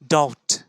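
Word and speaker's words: doubt: শব্দের ধাঁচে ফেলে দিলাম ডি ও ডব্লিউ টি কি উচ্চারণ হচ্ছে ডাউট ডাউট ডাউট ডাউট নয় ডাউট সহজ উপায়ে আপনাদের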